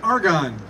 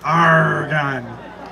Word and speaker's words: argon: To extend the life of the filament, the bulb is filled with an inert gas called argon. Pirates actually pronounced it argon. Say it with me like a pirate.